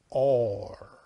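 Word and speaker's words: אור: read it in english but you pronounce it pronounce it or that's light so that is the third aspect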